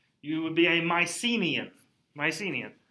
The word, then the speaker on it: Mycenae: would be a mycenian mycenaean my c knee mycenae that's how you say it okay that is